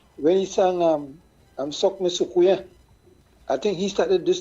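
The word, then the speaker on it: soucouyant: But we say Sukuya, but it's a French, but Sukuya. Yeah, it's spelled Sukuyant, but it's pronounced Sukuya.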